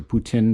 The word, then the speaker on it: poutine: try it and if you're going to offer poutine in your restaurants or putin depending on how you say it then at